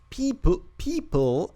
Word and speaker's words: Peeple: People. How do you pronounce it? People. Like people. It's like people, but more offensive.